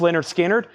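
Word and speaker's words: Lynyrd Skynyrd: James brag Shawn Holford wants a Leonard skinnard pronounced Leonard skinnard that's sold to Shan hulford uh there's da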